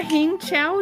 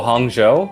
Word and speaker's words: Hangzhou: I feel like that's wrong is there a hang Chow China I didn't even look at this I've never heard of it I spent all my time Googling Jeremiah oh Hangzhou yeah it is not spelled like that in